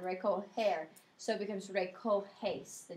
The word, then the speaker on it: recoger: So like even in the yo form in the indicative, it's got to change to a J to maintain that soft G sound. Recoger.